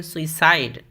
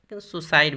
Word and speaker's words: suicide: Next है सुसाइड, इसको सुई करके भी बोलते हैं, सुइसाइड, सुसाइड भी चलेगा।